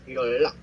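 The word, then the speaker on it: 연락: So the friend okay ang kaibigan chom noodle ora your rock so okay so your luck soy sorry pronounce as your luck hindi siya so guys ginagamit po ito Okay.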